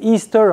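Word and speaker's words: Ishtar: Elle est appelée Istar aussi prononcé Easter.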